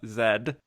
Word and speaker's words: Z: have been another Film Z or as they pronounced it in the film Zed and my guest today